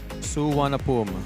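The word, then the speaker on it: Suvarnabhumi: Suana, that's how you pronounce it. Suanapum.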